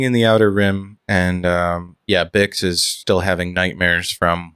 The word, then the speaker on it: Bix: Is it Biggs or Bix? It's Bix, Bix.